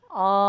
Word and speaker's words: Om: And that tone is broken down into 3 sounds, and you may have heard that in that example of Omkar then. A, or that first syllable, U, which is the second, so you actually change the shape of the mouth so that you can create that tone.